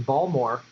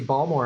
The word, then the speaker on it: Baltimore: and direct from baltimore i don't pronounce the t i do the correct pronunciation ball more so i can see ball more on the map um